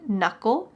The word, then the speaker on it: knuckle: my thumb has one knuckle notice the K is silent but my other fingers